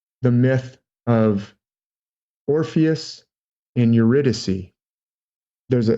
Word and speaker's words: Eurydice: with the beautiful Eurydice it's spelled like Yuri die see i gu r y di c e so Eurydice on the day of